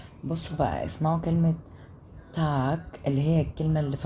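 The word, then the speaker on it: Tag: بصوا بقى اسمعوا كلمه تاك اللي هي الكلمه اللي في النص تاك تاك تاك ما بينطقوش الجي في الاخر جي بينطقوها كي تاك تاك اسمعوا كده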